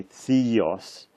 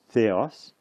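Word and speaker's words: θεός: But don't pronounce this E in an English way, theos. Pronounce it more in a Greek way, which is similar actually to Italian, A, E, or U. A. So this is eos, ha theos, the God.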